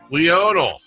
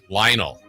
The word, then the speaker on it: Lionel: Lionel Messi. Lionel. Lionel.